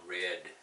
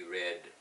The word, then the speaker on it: read: Okay, and we pronounce it we read. If it's past tense, we will say we read.